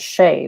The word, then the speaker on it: Shea: for the mispronunciation um my first name is shea which is spelled s-h-e-a um and it's normally written after the gaelic sean which is s-e-a-n but most people would pronounce shay written that s-e-a as c because the h is not immediately obvious like shawn s-e-a-n so i do get it i get a lot of shia now that i write